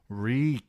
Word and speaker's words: Reek: Reek, Reek, it rhymes with meek.